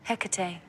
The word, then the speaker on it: Hecate: Um, how do you pronounce it? Hecate.